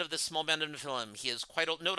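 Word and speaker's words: Nephilim: Mora, you meet Morra, the head of this small band of Nefilm. He is quite old. Note, I've pronounced Nefilm like three different ways during the stream.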